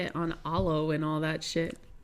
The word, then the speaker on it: Alo: They got some bougie on Alo and all that Oh, is that how it's pronounced? I don't know. I think so. I thought it was Aloe. That's how it said.